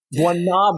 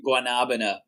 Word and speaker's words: guanabana: I'll say it's guanabana. Guanabana. So they say guanabana.